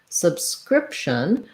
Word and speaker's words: subscription: those b sounds then when we move to subscription we again have second syllable stress but now letter i is going to be the lacs if vowel like in did um rib or rip so you can see